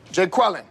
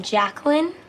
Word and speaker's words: Jacqueline: Jay Quellin. No Jay Quellin here. Uh do you mean Jacqueline?